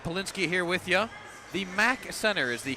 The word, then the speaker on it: MAC Center: The MAC Center is the correct pronunciation here, right?